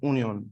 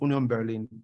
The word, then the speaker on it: Union Berlin: Union Berlin right right it's pronounced onion by Sprouts Union pronounced onion Berlin right so Unum Berlin